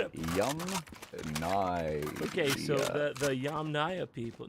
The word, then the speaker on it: Yamnaya: Okay, so the Yamnaya people, not Yamnya.